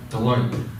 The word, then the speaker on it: Deloitte: I was gonna ask Dave, how do you pronounce that word? Deloitte.